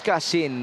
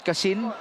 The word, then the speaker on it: Casin: It's not Casin, it's Casin. Actually, in-explain yun sa atin ng kanyang teammates. It's the English word, cousin, pinsan, yun lang yun.